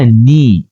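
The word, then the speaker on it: knee: بل د ملګرو موږ سره نی. نی ویل کیږي زنګون ته. نی دغه ځای ته ویل کیږي زنګون ته. دلته ملګرو دغه کې سالنټ دی. کې لیکل کیږي خو تلفظ کیږي نه.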